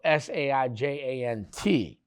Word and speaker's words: Sargent: So he also had a crude marker of Sergeant John Kesner and Sargent, so Sarjant. And he picked that name up from Sergeant, like you would spell it, a military sergeant.